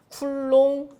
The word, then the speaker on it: 쿨롱: Q 전기량이 전기량의 단위는 C고 쓰고 읽을 때는 뭐라고 읽는다 쿨롱 어 기본적으로이 정도는 나오셔야 돼요 왜 전기량의 단위를